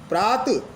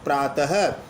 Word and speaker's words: प्रातः: जाने पर हरि है प्रात में विसर्ग लग जाने पर प्रातः अब विसर्ग सहित रूप को आप प्रात नहीं बोलोगे प्रातः यानी विसर्ग का उच्चारण पृथक रूप से होता है यह हिंदी में